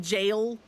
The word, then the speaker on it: gaol: Also, can I express my disappointment that GAOL is just jail and not like anything like special? Like, it looks like that should be pronounced differently. Yet here we are.